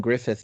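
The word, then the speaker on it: Gruffudd: you had the young Griffith version and I realize how his name is spelled but that is how it's pronounced I had to look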